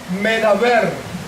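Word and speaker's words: מדבר: Y esas palabras, esas letras, Mem, Dalet, Bet, Resh, con la que escribimos la palabra desierto en hebreo, midbar, también se puede pronunciar esa palabra como medaber.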